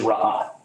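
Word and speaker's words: רעה: So the Old Testament word, if you were to pronounce it in Hebrew, is ra'ah.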